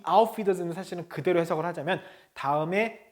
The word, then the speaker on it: Wiedersehen: Auf Wiedersehen. 자, 이 에는 어떻게 한다 그랬죠? 이를 길게 한다 그랬죠. 그래서 wieder 길게 발음하죠.